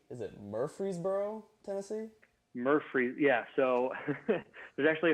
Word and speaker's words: Murfreesboro: I just wanted to know, from Middle Tennessee, if I'm saying it right, is it Murfreesboro, Tennessee?